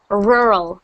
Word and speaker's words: rural: And it means, and you pronounce it rural.